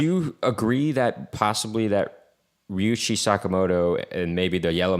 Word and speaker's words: Ryuichi: I thought it was Ryushi. Ryuichi. Is it Ryushi? Ryuchi. Oh, well, then I guess I was pronouncing it wrong before.